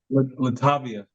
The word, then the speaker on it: Latovia: while uh he and his wife and it's latovia right I'm pronouncing that correctly Latavia Latavia okay so he and his wife Latavia